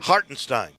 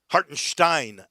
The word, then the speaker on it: Hartenstein: man oh Isaiah hortenstein hartenstein hartenstein I think is how it's pronounced very German hartenstein hartenstein goes down